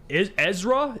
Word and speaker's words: Ezra: Ezra is how you pronounce his name.